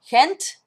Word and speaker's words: Gent: some of the old older gentleman called it hent or gent like like it wasn't like a hard G